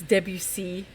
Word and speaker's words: Debussy: It's Debussy. You have to pronounce it very French. You have to pretend like you are French.